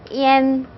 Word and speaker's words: ian: I랑 붙었을 때 안 발음이 나지 않고 N 발음이 나야 됩니다. N. 그래서 EN이라고 발음을 하셔야 돼요. EN.